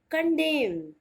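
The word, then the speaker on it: condemn: जो पतझड़ का महीना होता है उसे ही हम इंग्लिश में बोलते हैं ऑटम, और ऑटम में एन साइलेंट होता है। The next word is CON, DEMN, कंडेम।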